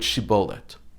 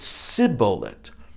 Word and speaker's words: shibboleth: spies because the primates could not easily pronounce the shin in the word shibolet instead of shin they pronounced it sibolet using the sin sound and then judges 12